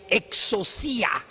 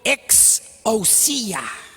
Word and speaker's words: exousia: Fíjate, la palabra autoridad es una traducción de la palabra en griego exousia. La pueden pronunciar conmigo: exousia.